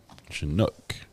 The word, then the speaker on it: Chinook: a very good song Chinook Accent on the Nook we're doing pronunciation guide